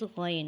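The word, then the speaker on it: غ: Ghain is a heavy, gurgling and long sound letter. It is pronounced from the top of the throat.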